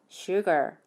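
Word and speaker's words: sugar: 발음 어떻게 하면 되죠 일단 e 음절 단어 구 요 첫 번째 모음 인 유 에 강세가 있어요 그런데 아울 로 끝나기 때문에 혀 끝일 입천장에 닫지 않게 뒤로 마라 올리셔야 되요 그렇게 해서 쉴 걸 이렇게 발음 하시면 되요 따라해 볼까요 쥬얼 쉬어가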